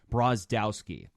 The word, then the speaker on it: Brozdowski: Let me get the pronunciation of his last name right. Brozdowski.